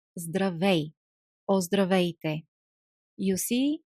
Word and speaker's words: здравейте: How do we pronounce здравей or здравейте? You see, we have three consonants, one after each other. Z, D, R. Zdr. Здравейте. Здравейте.